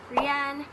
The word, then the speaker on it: Rian: That's how you say it. Rian.